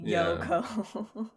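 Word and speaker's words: Yohkoh: oh no no right not spelled like that it's y-o-h-k it's spelled like phonetically yoko uh originally it was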